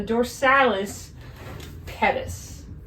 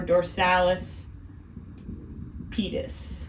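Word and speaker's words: dorsalis pedis: artery this is a different artery called the dorsalis Pettis or dorsalis petus however you want to pronounce it it means dorsal foot artery makes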